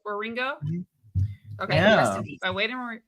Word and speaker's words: Wieringo: How do you pronounce the Wieringo? Wieringo. Wieringo.